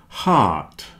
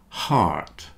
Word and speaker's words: heart: cake break steak cake heart rhymes with art heart heart comfortable vegetables and chocolate